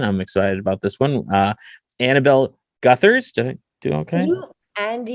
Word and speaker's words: Annabel Gutherz: Annabel Gutherz.